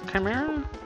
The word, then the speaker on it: chimera: Chimera? I believe they were called. Well, it's pronounced chimera, but I don't think they spelled it right.